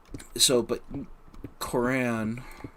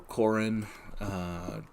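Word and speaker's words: Corran: But Koran, or Korin, depending on how you wish to emphasize your syllables, he's not motivated as much by those grand notions.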